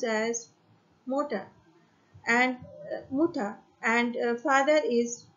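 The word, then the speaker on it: Mutter: In German मदर is pronounced as motor and Mutha and father is water.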